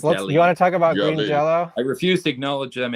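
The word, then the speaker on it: Green Jellÿ: pronounced oh so right even green jelly is pronounced Green Jello that's what right so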